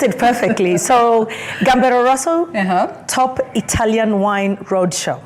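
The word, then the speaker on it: Gambero Rosso: worest let's talk about the event it's called gamb Roso how am I supposed to pronounce it you pronounced it perfectly so gamb Roso top Italian wine Road Show okay and this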